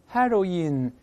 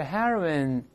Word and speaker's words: heroine: 个女英雄不是 heroine 是 heroine 这么一个声